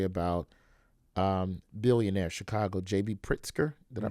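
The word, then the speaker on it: Pritzker: telling a story about um billionaire Chicago JB Pritsker. Did I pronounce it?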